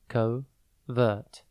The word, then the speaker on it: covert: covert it is pronounced coovert and spelled c o v e r T think Cove like a small Bay and then RT before we get into